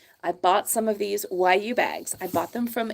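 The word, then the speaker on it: Wayuu: guy in cenia Colombia this is called a Yu bag right it's spelled w a yuu and this is a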